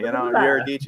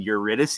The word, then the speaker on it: Eurydice: Like, I got to get the Italian stank on it, Eurydice. Yeah, no. My friend was like, you mean Eurydice?